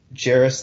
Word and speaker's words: Jairus: has it been Jairus this entire time it's Jairus Lyles I've been Wow sports editor the Cheever and I pronounce his name wrong for two years one